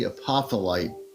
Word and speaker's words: apophyllite: crystal store, and say, do you have any apophyllite? Pronounce it apophyllite.